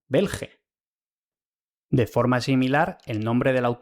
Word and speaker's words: Belgae: Y si AE se lee E, entonces la G de "Belgae" no se pronuncia como la G de gato, sino como la de genio, bel ge.